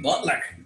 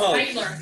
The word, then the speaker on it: Beitler: Butler. Good work. Nobody Sheesh. Says your last name right. I've said it wrong for years. It's Beitler. Oh. Like, there's an E there.